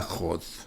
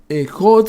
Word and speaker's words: Hod: Luego vamos a jod. Después de Yesod viene hod. H o d se escribe con h, se pronuncia con j. Jot significa el cuerpo astral.